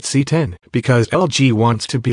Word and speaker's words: CX: get to know the lg cx series it's pronounced c10 because lg wants to be like apple i